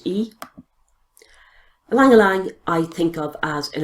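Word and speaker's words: ylang-ylang: we have a landline Alang Alang spelled why pronounced e Liang Liang I think of as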